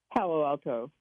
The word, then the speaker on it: Palo Alto: Palace Palo alt how do you say that Palo Alto oh okay thank you all right you're in